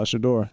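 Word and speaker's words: Shedeur: Shador.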